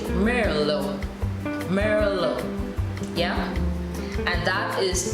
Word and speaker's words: Merlot: So in the beginning, I would have discussed the wine varietal Merlot, which is spelled M-E-R-L-O-T. Of course, we leave the T out and we say Merlot.